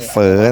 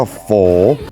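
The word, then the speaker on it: phở: โลคอล นะ ครับ โลค แต่ ที่ นี่ เขา ไม่ เรียก เฝอ นะ ครับ เขา จะ เรียก ว่า ออก เสียง ว่า โฝ อย่า เรียก เฝอ นะ เ งง ไอ้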